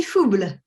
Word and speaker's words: Fouble: And then also joining us are, I believe her last name I'm pronouncing it correctly, is Faubleu, right? Yes, how do you say it? Fauble.